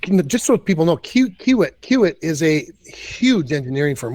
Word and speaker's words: Kiewit: And which is not to besmirch their other properties, TC Energy and I don't know how to pronounce this other way. Kiewit. Yep. Kiewit.